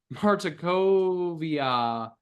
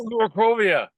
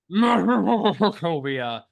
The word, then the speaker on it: Markovia: had all gone to the Abbey of Saint Martakovia. I believe I keep getting the damn name wrong and I keep hesitating. Yes. Markovia. Markovia, where you had gone with the wedding dress